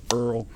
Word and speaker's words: oil: And by this, I mean oil, and a nod to my Louisiana friends, as down the bayous will often pronounce oil, Earl.